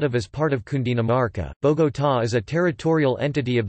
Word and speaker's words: Bogotá: Bogotá, Spanish pronunciation, Bu-ta, listen, officially Bogotá, Distrito Capital, abbreviated Bogotá, D.C.,